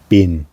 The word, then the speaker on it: bin: you but there so been I am been I am zon I'm s so that's spelled b i n like the bin in English like um yeah but moving